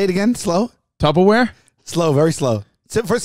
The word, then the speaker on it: Tupperware: saying say it again Tupperware say it again slow Tupperware slow very slow first say the first syllable tub wrong what do you mean